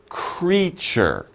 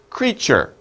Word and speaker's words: creature: let's practice the pronunciation creature creature it's two syllables two sounds cree sure creature okay so creatures are